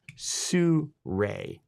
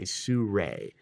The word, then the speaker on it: Sirui: As I mentioned, it's the Sirui AM326M carbon fiber monopod. So yes, just so we can clear this up right now, Sirui is pronounced Sirui, S-O-O-R-A-Y. Think of it that way, Sirui, okay?